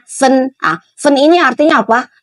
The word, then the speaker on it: 分: Dipisah jadi fen bacanya fen.